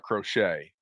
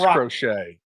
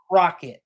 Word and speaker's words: Crochet: The Red Sox have a guy, Crotchet, looks like Crochet. I'm pretty sure it's not Crochet. But I've heard it pronounced Crochet, and okay, he is Crochet. Golly, and I've heard it pronounced Crockett, like with a K.